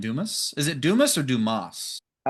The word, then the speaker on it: Dumas: Is it Dumis or Dumas? I'll re pronunciate it, but French would be Duma. Dumas. But Duma. Ah, fancy. Okay. However you want to say it. Dumis.